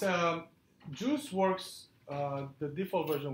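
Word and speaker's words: Guice: have heard of of juice written like this pronounced like juice it's a dependency injection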